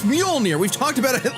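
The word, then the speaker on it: Mjölnir: preview literally said that basically canonized that Boomstick mispronounces Mjolnir on purpose. I actually think that's a really interesting character bit. It's Mjolnir.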